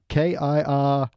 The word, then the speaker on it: Kirlian: my kind of thing so yeah that's a k-i-r-l-i-a-n yeah kirlian they pronounce it it's uh but apparently it's an